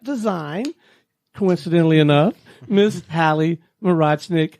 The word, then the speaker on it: Morochnik: with web step design coincidentally enough miss Hallie Murat snick how are you I'm good thank you stone and kudos for pronouncing my last name well tell us about